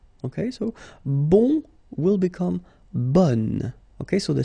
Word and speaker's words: bon: Okay, so bon will become bonne.